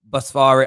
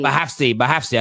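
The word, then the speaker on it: Bouhafsi: That is from Mohamed Basfari. I think that's how you pronounce it this way. That's how you pronounce it. Mohamed Bohafsi. Bahafsi. I keep saying Basfari. Sorry, Bahafsi has confirmed this news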